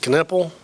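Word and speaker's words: Knueppel: One time he left I can't pronounce it. How do you say, is it Kneppel?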